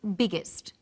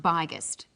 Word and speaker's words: biggest: extra G that's right the extra G tells us that the word is pronounced biggest and not byest what's another example hot